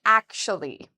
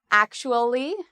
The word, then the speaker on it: actually: it's spelled with a TU, is pronounced like an SHU. So we would say akshu. Akshu. And now if we add the last part, we can say actually. Some people say it in 4 syllables, actually, actually. Other people say it in 3 syllables, actually.